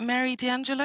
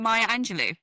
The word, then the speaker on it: Maya Angelou: I think for me I would say is it Mary D'Angelo is no I don't know if I'm saying it right. Maya Angelou.